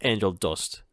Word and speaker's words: Angel Du$t: should dare point out like dust is spelled d-u and the S is a dollar sign and T so it's angel dust yeah dollar instead of